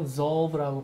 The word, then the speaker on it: resolve: 그 다음에 발음을 할 때 S 발음이 아닌 약간 그 알파벳의 마지막 Z처럼 resolve라고 발음하셔야 됩니다. 근데 이 단어를 쓰는 게 훨씬 더 상대방에게 더 그 클리어하게 메시지를 전달해요.